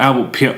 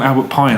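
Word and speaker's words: Albert Pyun: How are we pronouncing it? Is that how we're saying it? It's kind of like a gun. Albert Pion. I keep calling him Albert Pine. I don't think that's right.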